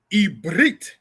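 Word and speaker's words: עברית: and sisters Hebrew from because ibrit is how you say Hebrew the language itself and ibri is how you say a Hebrew as a person all right so we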